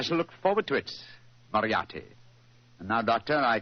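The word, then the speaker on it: Moriarty: mispronounce it I'm afraid I'll have to begin calling it the way it looks m o r i a r t y mariati mariati I shall remember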